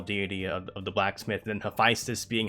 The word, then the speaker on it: Hephaestus: the actual male deity of the blacksmith, and Hephaestus being how you pronounce her name in danmachi, because Hephaestus is female in danmachi.